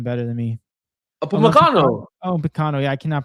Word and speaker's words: Upamecano: Upamecano. Yeah, I cannot pronounce his name.